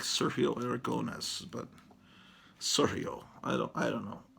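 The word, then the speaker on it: Aragonés: I always pronounced his name Sergio Aragones, and apparently that's wrong.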